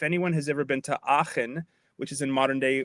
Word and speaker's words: Aachen: Aachen.